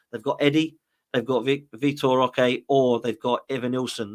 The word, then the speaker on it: Vitor Roque: It is Vitor Roque, or the R, I believe, is not pronounced. So it's Victor Roque.